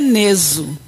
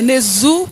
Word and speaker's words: Nezu: Segundo meu pai, é Neso. Agora, segundo a pronúncia popular, né, é Nezu, que é mais fácil, né?